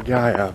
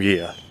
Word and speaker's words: Gia: Either Gia or Gaia, but I think Gia is more accurate from the way it's spelled.